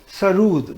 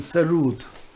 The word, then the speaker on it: Sarod: Sarud, that is the actual pronunciation, Sarud.